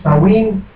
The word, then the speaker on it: Samhain: direct line from pre-Christian the vigil of Samhain, pronounced Samhain.